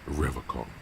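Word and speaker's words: Revachol: He pronounces Revocon with a hard K.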